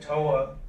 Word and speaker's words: TOA: Yeah, they pronounce it TOA Global.